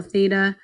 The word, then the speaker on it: theta: that's opposite the angle theta divided by the hypotenuse now again just to be clear this symbol is Theta that's how you say it it's just a Greek